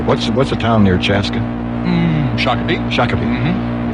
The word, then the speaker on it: Shakopee: Shakopee. Mm-hmm. It's Shakopee. It's a Native American name, Sure. and it's very important that you get it right. It is. He goes, Shakopee, the phones ring.